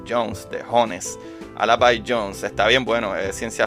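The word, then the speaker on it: Al-B Jones: escuchando que se llama alab Jones se llama se escribe a L I de punto B I de Punto y Jones de Jones al by Jones está bien bueno es ciencia ficción escrito por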